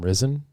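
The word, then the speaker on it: Ryzen: previous previous one become risen you you could just pronounce it that way if you wanted to because it's r y z e n you know it's not rising it's risen because it's last year's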